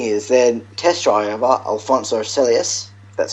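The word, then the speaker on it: Alonso Celis: the interesting thing is then test drive over Alonso celus that's how you pronounce it did 133 laps yeah cuz they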